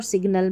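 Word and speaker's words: signal: यहां पर हम जो है दोनों का उच्चारण कर रहे हैं।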